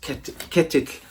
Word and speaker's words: Ketill: Ketill is Ketill, K-E-T-I-L-L, looks like kettle, but it sounds like Ketill, and it's the sound at the end where you get the double L together, the 2 L's together, which I'm fascinated by because it's pronounced by closing the tongue around the inside of the gums and then releasing it on one side.